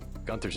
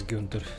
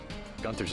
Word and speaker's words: Gunther: New York without me Gunther's in the field now they say he wants your head gun I was pronouncing his name as Gunter the whole time heads are starting to